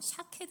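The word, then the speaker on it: שָׁקֵד: 제가 살고 나무가 히브리어로 샤 캐드 라고 말했습니다 그런데 이 단어는 요 히브리어로 지켜보다 라는 동사와 굉장히 똑같습니다 철자와 발음이 똑같이 샤 케 됩니다 살고 나무도 샤 케 등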